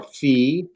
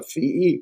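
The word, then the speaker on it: φῖ: down the center, and it pronounced like as in phone, right? Phone. Now, when we do transliteration for a phi, chi, and si, we'll use 2 letters.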